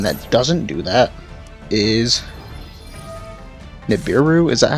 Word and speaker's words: Nibiru: I think a good example of one that doesn't do that is Nibiru. Is that how it's pronounced? Nibiru, the primal being.